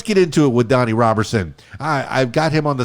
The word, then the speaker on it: Roberson: Did I pronounce that correctly? Is it Roberson or Roberson? Robinson. Roberson. Yeah, Roberson.